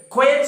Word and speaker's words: quite: uh completely okay now s q a t and q e t the difference you have to understand q e t means silence keep quiet two cylinders are there quite active other one is only one syllable it's quite possible okay